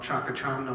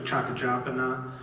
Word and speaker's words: Chakachamna: official renaming of it used to be called chakachamna lake it's actually chaka japana and there's there's some